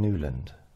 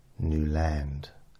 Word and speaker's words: Newland: I said it's Mr new land she said ah are you sure you don't mean newand I said no new land I've got 800 recordings where I say new land at the beginning of